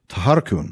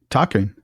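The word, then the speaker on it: Tharkûn: But would it have been Tharkun or would it have been Taharkun? It would have been Tarkun. Tarkun. Just Tarkun. Yeah.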